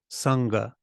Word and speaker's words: Sangha: sound even happens is just when n is comes before G and therefore it becomes it moves down here naturally like for example unga Sangha that's that sound then the second position